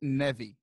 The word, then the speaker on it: Neve: It's pronounced Neve.